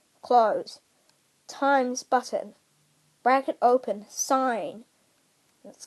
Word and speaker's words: sin: 1 fraction 2, bracket open 5, bracket close, bracket open 6, bracket close, times button, bracket open sine. Let's call it sine button. It's S-I-N, but it's pronounced sine.